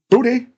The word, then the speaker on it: Butte: name because I sworn it was Butte. Hey, Sean Butte. Booty. I hope it's not booty because that'd just be funny as hell. Booty, booty, booty, booty. It was booty. Oh, God. Yep, that's how you say it.